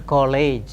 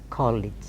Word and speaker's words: college: body very frequently mispronounced cowg is not a college as it is given call it call it arts college Sanskrit College co-leads of course in